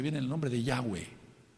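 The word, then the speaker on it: Yahweh: te tambal en que su nombre es yahwe no hay otra forma de pronunciarlo no se trata aquí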